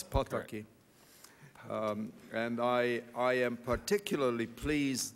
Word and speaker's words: Pataki: I'm particularly delighted to welcome my good friend, Governor Pataki, which is the proper pronunciation of his name. For all of my colleagues, every single Hungarian word is accented on the first syllable, and it's Pataki.